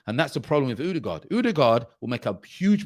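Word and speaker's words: Ødegaard: It's not Odegaard. It's Odegaard, people.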